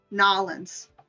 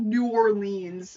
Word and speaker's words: New Orleans: orleans and then flew back home so or nollens that's how you pronounce it now lens it's not a new word it's not new orleans it's knowledge gotta pronounce it like how they